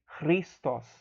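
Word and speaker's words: Χριστός: Christos. Christos. Tá? É um som bem difícil de produzir, tá? Porque é um gutural. É um som que é produzido aqui na garganta.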